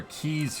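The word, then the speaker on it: quay: no it's pronounced key like what you'd put in a door yes me that doesn't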